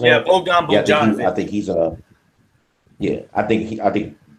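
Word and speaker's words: Bogdanović: Am I pronouncing that? Yeah, Bogdanovich.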